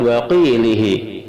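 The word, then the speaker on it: وَقِيلِهِ: Yang kedelapan, lafaz waqilihi surat Az-Zuhruf ayat 88, lamnya kasrah, haknya kasrah dan pendek.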